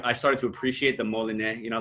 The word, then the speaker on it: Molinet: say it out loud molinae yeah that's that's like the correct french pronunciation but i grew up with it being pronounced malonette but either way dominant